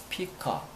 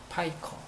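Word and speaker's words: pica: 그 다음 피카. 피카가 있으면 피카. 파이커. 피카가 아니고 파이커입니다.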